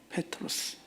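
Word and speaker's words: Πέτρος: 그래서 원래 원명은 페트로스라고 이제 이게 정확한 발음입니다. 헬라어 페트로스.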